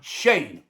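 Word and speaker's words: Schoen: That would seem to spell Shone to me. But it's not pronounced Shone. It's pronounced Shane.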